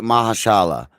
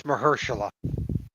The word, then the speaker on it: Mahershala: Are you saying it right, or is it Mahashala? Because I think it's Mahershala.